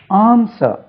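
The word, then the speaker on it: answer: allow ஆன்சர் விடையளி பாருங்க ஏன் எஸ் w ஆர் ஆன்சர் உச்சரிப்பை கவனிங்க ஆன்சர் ஆன்சர் ஆன்சர் இதுல பாதி ஆன்சர் பாஸ்ட்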